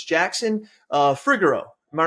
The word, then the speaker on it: Fregeau: So it's Jackson Fregeau. Am I right when I say that? Fregeau, close. Fregeau.